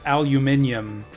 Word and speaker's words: aluminium: say aluminum but it's spelled with uh the extra I and it's properly supposed to be pronounced aluminium if you spell it that way but yeah we spell